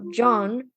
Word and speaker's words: Jean: McFarland who is also John Kirsten from Attack on Titan who's his name is John but the first name is spelled the same as jeans so it's it's hilarious